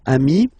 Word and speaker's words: ami: final s here okay but then technically you pronounce it the same way so singular form Ami plural form you add this s